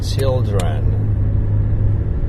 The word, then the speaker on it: children: people have any idea in terms of how many syllables you know there is in this word children in Japanese I mean with J if we if I write it in kirana or Katakana so it would be four syllables a four syllable word but in reality you have to say children okay so that's two syllables and now the problem